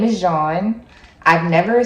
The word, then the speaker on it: Jean: But my name is Jean. It means yellow in French. So that's how it's spelled, like yellow in French, not Juan, Jean, J-A-U, so French.